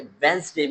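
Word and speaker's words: Wednesday: इट वॉज अ वेंसडे morning. अब देखिए वेंसडे में डी साइलेंट है।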